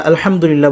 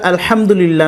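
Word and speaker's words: الحمد لله: সেটা কিন্তু হয় না আলহামদুলিল্লাহ এখানে কিন্তু হা কে স্পষ্ট করতে হবে যেটা আমরা আলহামদুলিল্লাহ না বলে আলহামদুলিল্লাহ বলি আর আলহামদুলিল্লাহ যদি আমরা বলি তাহলে সমস্ত প্রশংসা যেটা হয় আল্লাহর জন্য আলহামদুলিল্লাহ বলে সেখানে কিন্তু সমস্ত ময়লা আবর্জনা হয়ে যায় আল্লাহর জন্য এমন অর্থ চলে আসে নাউজুবিল্লাহ এজন্য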